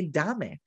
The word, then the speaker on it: dame: Here's dame in English, and I'm going to want to say dame, right? So I've got to know, no, that's that long vowel sound and the E is silent.